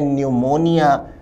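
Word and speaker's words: pneumonia: है गंभीर रोग है न्यूमोनिया की सही spelling P एन ई यू एम ओ एन आई ए होती है और इसमें पी साइलेंट होता है स्पेलिंग सिर्फ सी सही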